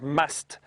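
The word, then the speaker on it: musth: the bulls when they are in a stage known as must, which is spelled m u s t h and it's apparently an Indian word.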